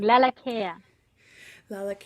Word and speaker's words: Lalakea: live radio it's all good thanks for asking laa care laa very nice okay so Aran is here with